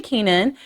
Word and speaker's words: Keanan: It is Stacy Keenan. Is it Kenan? That's how I've always pronounced it. Kenan. Yeah, that's right.